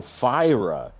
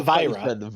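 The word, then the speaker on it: Phyrra: is not phonetically either it's p-h-y-r-r-a oh fyra ira not vibra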